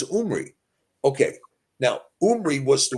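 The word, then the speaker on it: Omri: whose name was omy well omy is a mispronunciation his name was not omy his name was omy okay yeah R somebody is somebody's preference on The Vow sound it was umri okay now umy was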